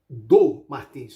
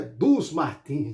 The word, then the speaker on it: do Martins: Não é como muita gente pronuncia, dos Martins, não. Não é mais de uma pessoa. Não, é uma pessoa só.